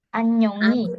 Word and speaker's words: 안녕히: kita Jadi langsung kalau H ini ketika 안녕. dia berada di tengah, dia nggak dibaca. Kecuali dia berada di benar-benar di depan seperti ini ya, baru dibaca. Jadi kalau di tengah atau di belakang tidak dibaca. Jadi supaya lebih natural, ya Rebun bisa bilang annyeonghi langsung.